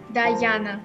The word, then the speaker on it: Diana: Diana. Diana, right? I don't know why many people think that my name is pronounced like Diana or Diana, but my name is pronounced like Diana.